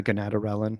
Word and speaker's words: gonadorelin: So, uh 4 months on TRT and the doctor put me on How do you say gonadorelin? Is that how you say that? Yeah, gonadorelin.